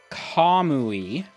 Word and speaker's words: Kamui: also i've looked up how to pronounce a few names so the place we were at is called kamui according to official japanese pronunciation who are you i've